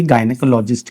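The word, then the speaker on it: gynecologist: लेते हो तो गायनेकोलॉजिस्ट, यहां पे जी के बाद वाई आने के बाद भी इसको गायनेकोलॉजिस्ट नहीं कहते क्योंकि प्रोनाउंसिएशन डिफिकल्टी होती है गायनेकोलॉजिस्ट बोलने में, तो ये गायनेकोलॉजिस्ट कहते हैं। तो यहां पे याद रखना कि जी का जो प्रोनाउंसिएशन है वो ग है।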